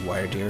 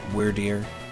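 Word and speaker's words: Wyrdeer: introduced in Legends Arceus I think that's how you say it wired ear or where deer if you want to pronounce it that way cool design for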